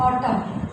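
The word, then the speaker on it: autumn: जैसे ए यू टी यू एम एन दोनों साथ में आ रहे हैं तो हमारा एन क्या हो जाएगा साइलेंट, यानी कि एन को हमें नहीं पढ़ना।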